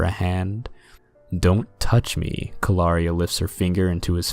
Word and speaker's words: Calaria: You're funny, Kalawa, mispronouncing her name. Calaria. It's Calaria, she corrects him.